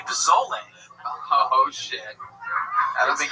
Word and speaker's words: pozole: Now, if you look up chicken, I believe it's Pozole, and it's pronounced pozole for all you fucking gringos out there.